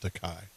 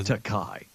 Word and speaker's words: Takei: Blake, what is Takei known for? He was Sulu on Star Trek. And it's pronounced Takai. Oh, Takai.